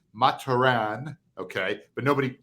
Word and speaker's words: Mathurin: He's French. It's actually pronounced officially Mah-tur-ahn, okay?